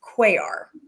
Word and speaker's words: Cuellar: know everybody everywhere um my last name that no one likes to pronounce is quar that is how it's pronounced now I don't roll my r um because I just am not very good at that but that's how it's supposed to be there is a feature on